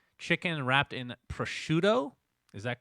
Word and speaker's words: prosciutto: talk about results now this is the american pronunciation okay there you go prosciutto i don't know if